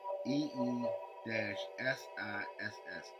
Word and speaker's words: Isis: looks like I E, which they would have pronounced as EE-SISS, Isis. In late antiquity, they sometimes added an epsilon at the beginning so that an alternative pronunciation would have been Asis, AAY-SISS.